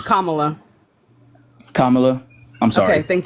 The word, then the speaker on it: Kamala: on also don't really care for Kamala it's Kamala Kamala I'm sorry okay thank you right so